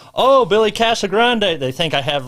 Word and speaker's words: Casagrand: it's uh oh man my name gets butchered all kind of all kinds what whatever you heard uh casa grande is a very frequent one because uh when you actually read my name it's c-a-s-a-g-r-a-n-d and a lot of people when